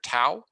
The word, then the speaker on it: tau: we use the greek the lowercase greek letter tau or taw if you want to pronounce it uh more appropriately so you have uh